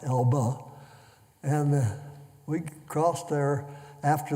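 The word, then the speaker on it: Elbe: right on the Elba River e lbe e pronounced Ela and we crossed there after they built a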